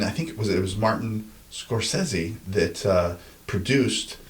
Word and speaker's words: Scorsese: But the original script of and I think it was Martin Scorsese that produced. Scorsese.